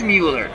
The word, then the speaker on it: Mueller: sorry it's don mueller it is mueller okay i never know how to pronounce that name thank you very much because billy miller i believe his last name was spelled the same way and i know you can pronounce it either way but it's mueller thank you that cubs the